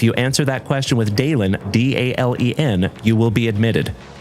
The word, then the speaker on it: Dalen: If it is your very first time tuning into this ugly mug, my name is Dalen. Hi. Nice to meet you. My name is Dalen, D-A-L-E-N, like Dale plus N.